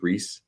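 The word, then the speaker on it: Rhys: Reese Hoskins, or I don't know how you pronounce his first name. I think it's Reese.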